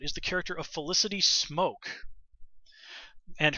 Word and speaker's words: Smoak: the character of felicity smoak and her name is not actually spelled like it would be spelled the word smoke I believe it's a